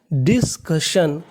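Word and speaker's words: discussion: उच्चारण भी नहीं करना इस मीनिंग में यू और आई साइलेंट है तो मीनिंग मानी डिस्कशन डिस्कशन डिस्कशन का मतलब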